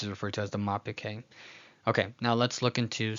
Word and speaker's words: mappik hey: It's a hey with a more breathalyzed sound. So you definitely pronounce that exhale. This is referred to as the mapik hey.